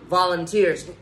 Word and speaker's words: volunteers: Các bạn cứ thấy hai chữ E đúng cuối cùng thì đa số nó sẽ trọng âm sẽ rơi vào âm tiết đó luôn.